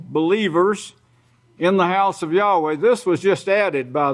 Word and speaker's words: Yahweh: You could go to a Hebrew and speak Hebrew and say Yahweh. That's the way you pronounce it.